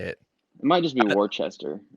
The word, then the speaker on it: Worcester: Yeah, It's Worcester.